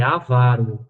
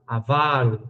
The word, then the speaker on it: avaro: Portuguesa pede né então tem muita gente falavaro mas é avaro avaro avaro é um mistério oxítona